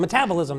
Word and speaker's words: metabolism: bit about um metabolism how do you say that metabolism metabolism that's what I was missing the accent metabolism um I have a